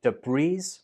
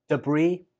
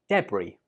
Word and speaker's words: debris: The important thing to note here is that the S is silent. So don't say debris, say debris, or say debris.